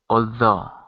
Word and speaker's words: although: It's pronounced all, like ball. Oh, although.